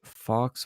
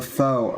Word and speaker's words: faux: But Michael Cohen says Trump hired a Fox Obama, that's a Fox Obama, so a Fox Obama, during White House A run. faux Obama. What was that? A faux Obama. That's how that's pronounced.